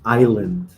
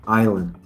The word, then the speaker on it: island: is the condition and the pronunciation is Island right the pronunciation there is no s in the pronunciation spelling yes right but the pronunciation is only I Island right Island the other